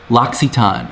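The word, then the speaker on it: L'Occitane: just relaxed it was fabulous someone's hoping you pronounce uh lax etan which is this one yeah oh the soap yeah loxiton okay oh your sister used to manage one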